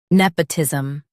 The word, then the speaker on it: nepotism: Today we will learn how to pronounce the word shown on the screen. Nepotism.